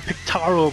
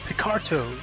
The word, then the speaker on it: Picarto: I keep calling it Pictaro, but it's actually pronounced Picarto.